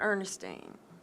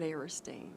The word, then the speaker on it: Eristine: my friend ok I'm aristine hunna my name is spelled EA R is tean not Ernestine but eresting ok I am a